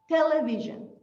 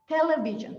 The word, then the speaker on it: television: you used to say television i used to do that but check the stress television television try to do it come